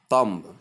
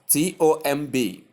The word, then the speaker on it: tomb: In fact, in Nigeria, most people do call it tomb because of the spelling. I have stated often that words are not pronounced the way they are spelled.